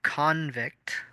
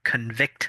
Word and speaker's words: convict: that stole something, you convict them. So you have convict versus convict. The stress is on the second half for the verb, but on the first half for the noun.